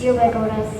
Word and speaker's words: ubiquitous: It's ubiquitous. Ubiquitous is an adjective. It has 4 syllables.